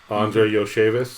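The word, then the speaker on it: Andrei Iosivas: I'll let you say his name because I'm not going to be able to pronounce it. Who you just pulled up? He's a sleeper. Andre Yoshevis.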